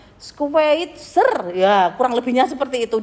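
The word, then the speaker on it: Schweitzer: lebihnya yang bernama Dr Albert skeveter hmm Bacanya adalah squeitzer Ya kurang lebihnya seperti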